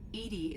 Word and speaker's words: EDI: are you named Edie Edie is the phonetic pronunciation of EDI it's an acronym for